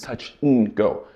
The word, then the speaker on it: touch and go: touch and go now touch and go in regular pronunciation is Touch N Go Again that and gets reduced to just the N sound like we've covered in